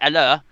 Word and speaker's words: Haller: But he said, Gonzo, please, can you pronounce Sanson, which is Morgan Sanson from Marseille, but I can't pronounce Haller or Fornals. Anyway, it's Haller, and it's not Fornals, it's the fornicator.